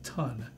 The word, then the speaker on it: tun: preparation for this show it's actually pronounced ton and ton is basically